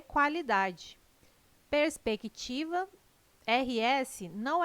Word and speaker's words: qualidade: Qualidade. O QU não é dígrafo, não é pronunciado com um som único. O quá traz um ditongo, dois sons UA.